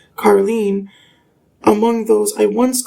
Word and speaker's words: Caroline: I recall someone with a name spelled exactly the same but pronounced Carlen among those I once called family who I haven't even seen in well over a decade.